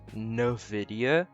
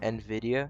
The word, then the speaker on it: Nvidia: I'd like to say I am not saying Nvidia wrong I know I've seen on YouTube people saying that Nvidia is is supposed to be said no video but if you look at an actual Nvidia